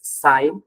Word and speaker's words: psi: as s psi the the pronunciation is s the spelling is psi so it's written uh